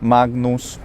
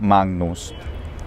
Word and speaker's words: magnus: natural just like ariadna so i would recommend having an unreleased g sound magnus or doing a full on velar nasal magnus thanks so much for